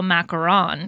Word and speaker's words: macaron: you said it differently now macron three syllables you can go macaron because macron is the french president so max yeah so